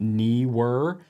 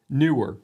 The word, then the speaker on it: Neewer: The other day I was pronouncing it Neewer. I was taking into account that extra E, but the company does say Neewer.